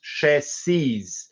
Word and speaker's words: chassis: So, for example, chassis is spelled the same in plural, but it's pronounced chassis.